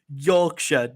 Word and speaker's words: Yorkshire: So this is Yorkshire, not Shire.